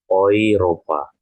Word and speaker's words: Europa: Kemudian, nah ini jika E bertemu U. E bertemu U ini, dia hampir sama ya. Bukan hampir sama, tapi dia sama ya cara bacanya. Seperti saat teman-teman tadi yang saya ajarkan, menggunakan A umlaut bertemu U ya. Seperti A umlaut bertemu U tadi. Maka dibacanya menjadi OI. Ya, ataupun OI. Maka di sini dibacanya menjadi Europa.